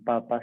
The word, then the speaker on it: papá: sentido que uno está no con papá sino con un papá con acento en la última porque eso es lo